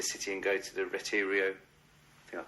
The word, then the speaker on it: Retiro: Even on our downtime, we were able to go down into the city and go to the Retiro, I think I pronounced that right, park. Isn't it It's Retiro, something like that.